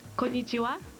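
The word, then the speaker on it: こんにちは: Kanaichi something. It's pronounced konnichiwa.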